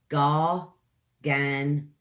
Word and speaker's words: gargantuan: It's gargantuan. 4 syllables, guys. Gargantuan. Use your tongue a lot in this one, or towards the end of it anyway. Gar kind of comes from the back of the throat there when you say gar.